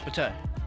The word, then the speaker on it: Bateh: Pate.